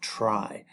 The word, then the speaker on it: trie: T R I E pronounced try.